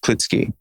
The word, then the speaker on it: Klitzke: The same way that my last name is in America pronounced Klitsky and in Germany it's not.